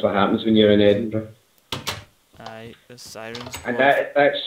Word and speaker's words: Edinburgh: that is pronounced Burra, but Edinburgh is Burra, it's not Burra, it's Edinburgh.